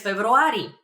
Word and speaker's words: февруари: For example, I'm born in February, so I would answer през февруари. През февруари. It's very similar to February. February. Just a little bit of a trick over there in pronunciation, but that means in February.